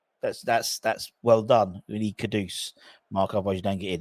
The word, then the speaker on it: Kudus: Kudus. You got to be Kudus, not Kados. It's got to be how it's spelled. Kedus.